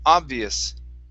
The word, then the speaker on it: obvious: to the word obvious instead of obvious o it's an ah sound obvious obvious there you go